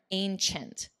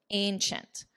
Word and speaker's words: ancient: Notice the pronunciation here, ancient, ch, ancient.